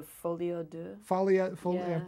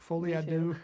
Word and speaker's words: folie à deux: The vinyl called the Folie à Deux. I'm pronouncing that wrong. Folie à Deux.